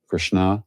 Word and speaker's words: Krishna: wife was Mrs tari her name was Krishna Krishna long a at the end that's a women's name